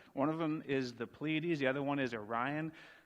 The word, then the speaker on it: Pleiades: Anyone know how to pronounce it? What is it? Pleiades. It's a three one. It's almost like the Little Dipper. Anyhow, God is saying here, can you bind the beautiful Pleiades?